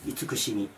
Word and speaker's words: 慈: この「じ」に関しては、「いいしみ」と読みます。いつくしみ。